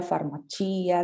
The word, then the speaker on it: farmacia: Y recuerden las palabras que terminan en ia con el acento en la i. Periferia, farmacia, droguería, ¿sí?